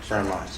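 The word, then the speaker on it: Pharoahe Monch: Miles said Rakim, Nas, GZA, Common, Pharrell Monch. How you say it? Pharrell Monch, that's right.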